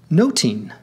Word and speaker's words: nothing: jeast eat & Greet nothing was pronounced noting hence the pun in the title much ado about nothing pronounced much ado about noting here musical notation and